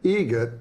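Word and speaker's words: Eget: It's a joke, an Adam Egret joke. How do you say the name? Adam Egret. Egret. Spelt differently. Like the bird.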